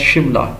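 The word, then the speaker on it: Shimla: سملا conference 1945 which is correctly pronounced as شملہ، لیکن یہ چونکہ برٹش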